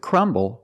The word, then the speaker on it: crumble: sound difference we see with crumble we have the letter B so we pronounced a b with our lips closed crumble B crumble and with crumple we have